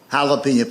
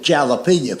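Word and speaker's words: jalapeño: love hot peppers, but he calls it jalapeno pepper. He'll say to a waitress, "Do y'all have jalapeno?" You mean jalapeno? No. Damn it. Jalapeno. Let's wait. He he he will he will point to that jar of pepper. He said, "See right there, that's a J. That's jalapenñ." And I made the mistake of trying to explain that to him. I said, "I know it's a J, but it's pronounced with a H.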